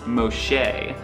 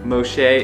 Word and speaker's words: Moxche: First things first, we actually just learned how to even pronounce this place. It's called the Secrets Moxche, and it's here in the Playa del Carmen area. Moxche is actually a Mayan word that means tree